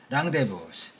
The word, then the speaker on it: rendezvous: Instead, they made a yearly rendezvous from the French, meaning a meet-up, pronounced rendezvous, where they socialized with